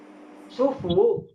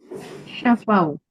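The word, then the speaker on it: شفوا: Majul sufu ini hurufnya sama loh. Coba lihat. Iya nih saya tak tulis baris ya. Syin fa wwu. Ini baca bacanya bagaimana? Syafau. Syafa boleh. Syufu juga boleh. Sufu juga boleh.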